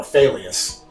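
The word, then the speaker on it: Faileas: Failious. Uh, it's spelled like like if you fail at something.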